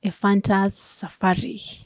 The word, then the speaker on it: Ephantus Safari: So ningetaka kujua who is Ephantus Safari. Hata nimepronounce vizuri. Umesema tu vizuri.